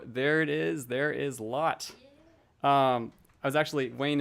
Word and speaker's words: Lot: much and so there it is there is lot um I was actually Wayne is somebody who's